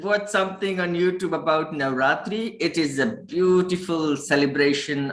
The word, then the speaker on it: Navratri: difficult to pronounce. Okay, speak it with me. Navratri.